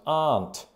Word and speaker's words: aunt: How do you pronounce aunt? I extend the vowel sound there, but here are some of the options.